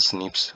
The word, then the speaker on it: SNPs: Polymorphism बोला जाता है, pronounce as स्निप्स occur in human.